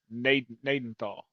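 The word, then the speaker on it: Gnadenthal: Nadenthal Naidenthal they said that according to Google the G is silent it's called Nadenthal Nenthal Manitoba word not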